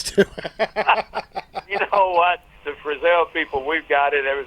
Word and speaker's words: Frizzell: The Frizzell people, we've got it ever since I can remember. People called us Frizzletail or Frizzle, or you know what I mean? They come up with all kinds of names, and I'm glad we're not the only ones.